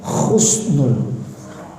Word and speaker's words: Husnul: yang kita harapkan Allah kasih nikmat Khusnul Khotimah Khusnul kematian yang baik indah bagus tapi dibacanya Husnul hahaha Pakai sekop kematian yang